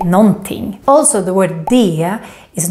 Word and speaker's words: någonting: For example, the word någonting. This is how we write it, but it's very rare to hear this. We normally just say någonting.